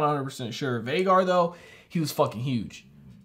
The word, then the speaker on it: Vhagar: I gotta look up to, Vhagar is how the dragon's pronounced.